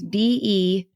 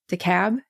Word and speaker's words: DeKalb: It's DEKALB, DeKalb, Illinois? DeKalb. I think. Illinois. Yeah, I wasn't sure if the L was silent or not.